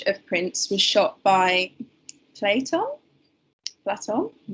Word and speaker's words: Platon: This image of Prince was shot by, is it Platon or Platon? I think I read it as Platon, but he likes to pronounce it as Platon.